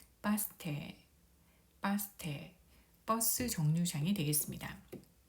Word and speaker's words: バス停: 그래서 바스테라고 하면 버스 정류장인데 테이를 보면은 에 모음 뒤에 이 모음이 와서 에 장음으로 발음하면 됩니다. 그래서 바스테, 바스테, 바스테, 버스 정류장이 되겠습니다.